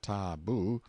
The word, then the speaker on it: tabu: in hiding-places till the tabu pronounced taboo, means prohibition, we have borrowed it, or sacred.